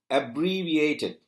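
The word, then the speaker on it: abbreviated: radiator அதேபோல நீங்க பாருங்க அப்ரி விட்டின் அப்ரிவியேட்டட் அதுல பார்த்தீங்கன்னா அப் உயர்த்தி காட்டி இருக்காங்க அப்ரிவியேட்டட் அதேபோல அடுத்த எழுத்து நீங்க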